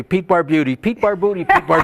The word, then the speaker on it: Barbutti: going to say I used to say Bar Beauty yeah that's correct American something I read that kind of said baroody so I I kind